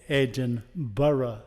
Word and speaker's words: Edinboro: you which is called Edinboro and that should be called edge and borough as well because it